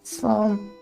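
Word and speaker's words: slán: Slan? Quick way of saying goodbye in Irish, a shortened version of Slan the Bale or safe journey home. One dialect for pronounce as Sloan.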